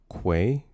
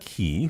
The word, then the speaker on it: quay: It's pronounced quay. Say it with me now. With a Q. With a Q. Yes. Quay. Yes. Quay. Not what? Key. I don't know who says key. It's quay.